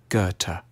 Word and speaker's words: Goethe: A safe bet is to start with a hard G on G and end with a T, Goethe.